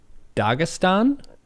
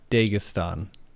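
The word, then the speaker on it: Dagestan: tried saying this word so dagistan or is it dastan D I think the I think dagistan is correct dagistan okay there was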